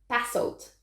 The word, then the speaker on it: basalt: then painted to resemble basalt basalt that's how you say it it was apparently one